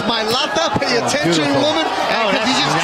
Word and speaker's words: Milata: host was talking about how do you say his name Cynthia it's mil Lata pay attention woman he